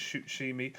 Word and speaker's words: Shutshimi: s h u t shimi yeah so it's pronounced it's written shut shimi but it's shoot shimi I mean it's mental it's like yeah I